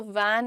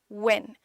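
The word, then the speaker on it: when: सो वैन नहीं, व्हेन, gentle रखेंगे, short stretch देंगे, ठीक है।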